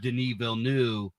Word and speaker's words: Denis Villeneuve: I think the director Denis Villeneuve That's how you say his name.